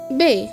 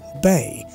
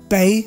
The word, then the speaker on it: bay: of bangladesh usually pronounce the first word b-a-y bei for example bear bengal yeah that's right but that's not right actually the correct one will be bae so the expression will be bay or bengal so what will be